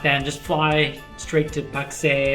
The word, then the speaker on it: Pakse: i'm going to say so you're thinking it's not taxi no it's pak say that's how you say it allow we're going